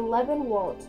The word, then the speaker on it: Lebenwald: "It is called the Lebenwald, the wood of life." "That's pronounced Lebenwald. Lebenwald. Go ahead and say it. German is fun."